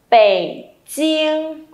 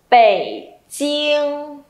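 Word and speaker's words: 北京: Bèn chiên. Không được bật hơi đoạn này đâu nhá, không được phẩy đâu. Đọc lại nào. Bèn chiên.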